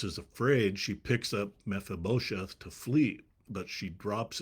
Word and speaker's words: Mephibosheth: And so I looked it up, and the accent is on the bo, so it's Mephibosheth.